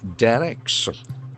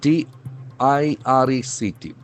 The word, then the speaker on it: direct: Center directs, D-I-R-E-C-T. That is a beautiful word. It can have two pronunciations, either direct or direct.